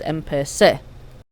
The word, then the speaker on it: empecé: Empezar, the Z becomes a C, so the yo form is empecé.